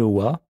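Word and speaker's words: は: particule wa qui s'écrit ah mais qui se prononce wa signifie en ce qui concerne elle permet de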